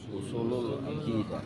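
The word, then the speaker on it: أصول العقيدة: Jadi bacanya apa? Usulul akidah. Jadi usul di situ harus domah seperti kitabullahi. Kitab kitabu Allahi. Jadi kitabullahi rasulullahi ya kan. Rasul lu Allah ini juga usulu al-akidati. Jadi bacanya usul akidati atau usul akidah.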